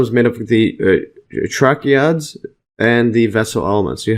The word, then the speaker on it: tracheids: See this pronounced, or tracheids. Called tracheids. Okay, tracheids. Yeah, so it's tracheids. Actually, I just searched it online, and it's they say tracheids. Yeah, so I think the actual pronunciation is tracheids.